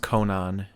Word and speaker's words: Konnan: I think it's pronounced Conan. Conan. It's spelled Konnan, so it doesn't. There's no on in there really.